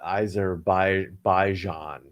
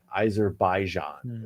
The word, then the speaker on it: Azerbaijan: a certain uh uh either by baijan eizer baijan is what she's telling me so yeah it's great